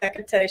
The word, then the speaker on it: Hecate: I don't know how to pronounce that. Do you know? Do you believe in Hecate? Hecate? Hecate? Hecate.